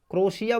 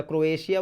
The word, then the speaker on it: क्रोएशिया: क्रोशिया बोल लें या क्रोएशिया बोल लें, एक ही बात है, स्पेलिंग होती है CROATIA, क्रोएशिया।